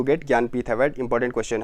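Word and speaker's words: ज्ञानपीठ: टू गेट ज्ञानपथ award इसका जनान प्रीथ नहीं पढ़ते हैं ज्ञानपथ पढ़ते हैं इसको ऐसे स्पेल करते हैं हम ऐसे कुछ प्रोनाउंस करते हैं ज्ञानपथ अवर्ड किसको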